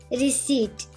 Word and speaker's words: receipt: go here please yes receipt receipt that's correct uh so what do you do with the letter p here do you pronounce p or not no you don't right uh so a